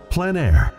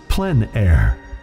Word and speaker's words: plein air: we cover the world of outdoor painting called plein air the French coined the term which means open air or outdoors the French pronounced it plan air others say plein air no matter how you